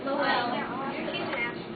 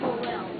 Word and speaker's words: Lowell: But then, a few years later, Francis Cobbett Lowell made another textile mill in the U.S., but it was better.